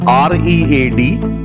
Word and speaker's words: read: Now the spelling is although R-E-A-D, but we pronounce it as read.